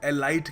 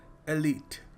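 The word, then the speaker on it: elite: एलट इसको देखिए बहुत सारे लोग एलाइट कहते हैं। कई लोग कुछ और ही कह देते हैं। कई तो खैर कुछ और ही कह देते हैं। सो इसको सही तरीके से प्रोनाउंस करने का तरीका है एलट। बहुत ही एलट दोस्त हैं तेरे तो। काफी ऊंचे लेवल के दोस्त हैं। ठीक है? सो याद रखिएगा the next time you use this word it's एलट।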